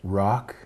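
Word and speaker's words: Rhok: And how do you pronounce that? Rock.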